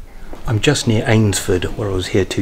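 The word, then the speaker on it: Eynsford: got our correction correct I'll pronounce that ainsford not einsford ainsford foreign I might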